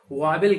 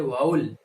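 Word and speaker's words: vowel: ज्यादातर लोग वावेल कहते हैं, जबकि इसका सही प्रोनाउंसिएशन, सही उच्चारण इसका होता है वाउल। तो याद रहे, अब आप मिस्टेक नहीं करेंगे, इसको वावेल नहीं बोलेंगे बल्कि वाउल बोलेंगे।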